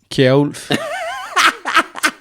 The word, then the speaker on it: Kjerulf: K. That's how we pronounce it in Danish.